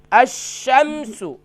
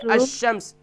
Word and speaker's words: الشمس: حمزہ شین زبر اش, شین میم زبر شم, الشم, سین پیش سو, الشمس. تو فل اسٹاپ کے ساتھ پڑھیں گے الشمس.